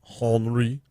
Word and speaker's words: Henri: Henri is a tropical storm, Henri, no, you don't pronounce the H, that is in the Atlantic right now.